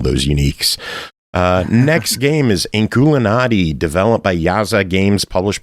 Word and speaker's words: Inkulinati: So Inkulinati, and that's how you pronounce it.